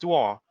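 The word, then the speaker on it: 多: means to get together and duo which is pronounced duo it can either mean more or a lot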